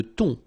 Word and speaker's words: thon: Le thon, la dorade, la morue, le saumon, le bar. Let's repeat them. Le thon. Remember, H here is not pronounced.